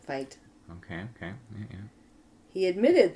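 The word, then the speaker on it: Feit: clergy a Father John fight fight I fi t f e i t they pronounce it fight okay okay yeah he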